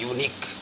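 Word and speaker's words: unique: कि यूपी जैसे unit-2 यूनिक यूनिक यह भव्य से शुरू है लेकिन इसका उच्चारण यहां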